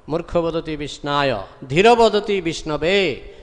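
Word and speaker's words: विष्णवे: Dhira Vadati Vishnabe. Those who are sober, real scholar, pandita, scholar, they say Om Vishnabe Namo. Pronunciation is correct. But Murkha means uneducated, he says Om Vishnayo Namo. Pronunciation is wrong.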